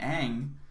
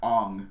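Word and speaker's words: Aang: a decade ago again his name is ang not on which is what they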